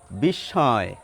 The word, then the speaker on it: বিস্ময়: ওই কণ্ঠানুশীলনের সঙ্গে যারা যুক্ত, সচেতনভাবে যারা উচ্চারণ করেন, তারা বলেন বিস্ময়। একটি নাকি উচ্চারণ শুনতে পাবেন হালকা।